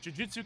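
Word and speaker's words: Jujutsu: I know nothing about Jiujutsu Kaisen, but it's the same syllable twice. Chris, it ain't that hard. Juiu Kaizen is like supernatural My Hero Academia technically supernatural.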